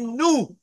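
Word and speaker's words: nous: What's news? N-O-U-S. We. No, right? Nu. Yeah, I know. Nu. But it's spelled N-O-U-S.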